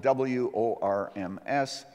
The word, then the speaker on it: Worms: Now, it's spelled W-O-R-M-S. We say Worms. Actually, in German, the W is pronounced like a V, so it's the Diet of Worms.